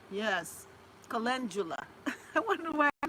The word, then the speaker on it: Calendula: Calendula. Yes. Calendula. I wonder why I pronounce it wrong all the time.